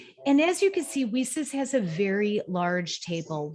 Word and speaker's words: WiCyS: by your acronym and we pronounce it we sis like we sisters and that's exactly what we are we are a cyber sisterhood and as you can see we sis has a very large